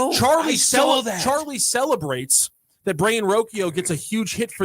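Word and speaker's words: Rocchio: how we're related, but his name is Brian Roio is how he he pronounces it. He's a short stop. Charlie I didn't know. Charlie Charlie celebrates that Brian Rokio gets a huge hit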